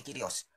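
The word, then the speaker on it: κύριος: kata kurios atau kata kyrios dalam bahasa Yunani kata kyrios tulisannya kuriositas bacanya kyrios oleh Lembaga Alkitab Indonesia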